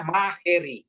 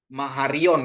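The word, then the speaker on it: μάχαιρα: Tapi bacanya dia maharion gitu kan di kitab Wahyu ya. Bacanya maheri ya. Kalau Alfa ketemu Yota, dia bacanya E, ya Bapak Ibu ya.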